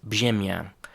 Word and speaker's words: brzemię: the bottom of it, and that RZ in Polish is pronounced ż.